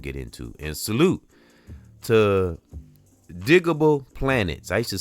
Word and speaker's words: Digable Planets: I don't know why I used to say it wrong for some reason, but it's Digable Planets. I think I would get it confused with digital underground. I would say digital and it's not digital cuz I've done um tributes to different artists.